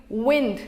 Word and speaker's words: wind: Here the word wine is rhyming with find and mind. Earlier on, before 16th century, wind, which we use now, has been used as wine and pronounced the same way.